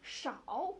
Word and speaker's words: 少: going to be few, and how do we pronounce it then? 少 Oh, so if you do it in English